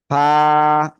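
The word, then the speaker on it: ف: দেখাচ্ছি এবার দেখেন আমাকে নিচের ঠোঁটের পেট উপরের এই দুই দাঁতের আকার সাথে লাগাবো লাগিয়ে এক লিপ টেনে হালকা বাতাস বের করব উচ্চারণ করবো করবো এই যে এরকম ফা ফা ফা ফা এই যে হালকা বাতাস বের হবে এই যে এরকম ফা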